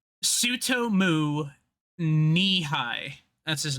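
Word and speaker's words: Tsutomu: Uh, uh, to, Sue, oh god, he's got one of those Japanese names that's hard to pronounce because it starts with a T-U and an S, or a T-S and a U. Sutomu Nihai.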